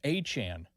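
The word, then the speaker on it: Etienne: He said his last name is pronounced Achan.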